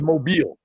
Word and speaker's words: Mobile: So she's from where they think it's Mobile. Mobile. Oh, okay. Okay. We've been mispron I've been mispronouncing it for years.